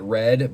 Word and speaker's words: R6D: Yeah, so yeah, Rack, I remember his name in chat for a long time was R6D, or I think he pronounced it Red, but I still always called him Rack just because that's how I always knew him.